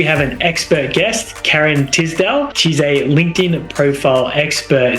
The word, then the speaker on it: Tisdell: I'm like, it's Tisdell.